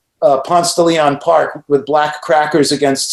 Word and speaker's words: Ponce de Leon: say it right all the time but it's ponce de leon yeah you got your atlanta history down bro